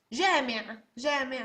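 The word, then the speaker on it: جامع: Jama means plural, jama, and jami' means a mosque, right? Jami'. So at the end you don't really have to pronounce the ain, and it's easier to just open your mouth.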